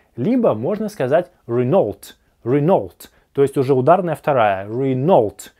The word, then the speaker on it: Renault: Renault, с ударением на первом слоге. Renault, или, как можно сказать, Renault. Renault, то есть вторая модель находится под напряжением.